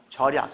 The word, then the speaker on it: 절약: 자, 이거는 절약이라는 단어는 소리상 니은이 첨가되지 않습니다. 절약. 그래서 많이 했던 내용이죠. 소리상 니은이 첨가되지 않는 거. 절약이다.